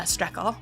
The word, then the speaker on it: Strekal: your last name uh stle oh okay just how it looks just like shle yep um dude thanks